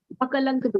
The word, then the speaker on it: अकलंक देव: उन्होंने बताया कि तत्वात्र सूत्र में भी लोभ देवती शिखा correct pronunciation pronunciation is Akalankadev. अकलंक देव, Akalankadev, not Ankalank.